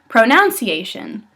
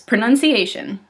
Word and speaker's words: pronunciation: It's pronunciation, which some people say pronunciation, which is, no, it's pronunciation.